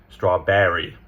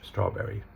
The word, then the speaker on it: strawberry: So they're putting the emphasis on the back, right? So it's very different. What happens with the Americans is they're putting a stress on the R. So they're pronouncing the R in there. The British strawberry, we're not emphasizing that R.